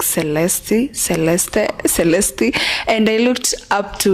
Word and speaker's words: Celeste: they're like, is that Celeste? Hello, is that Celeste? So but the real pronunciation for the word, it's actually a Latin word and French at the same time. It's Celeste.